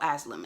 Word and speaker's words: Aslam: a a slim Aslam oh Aslam is how you pronounce his name aslim is nasir's Father